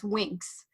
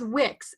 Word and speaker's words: Wix: mentioned the website host Wix, but I pronounced it as Winx. Even though, like, I knew it's Wix, W-I-X, but as I